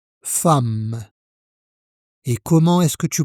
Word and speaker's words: femme: La lettre E ici se prononce A. Femme.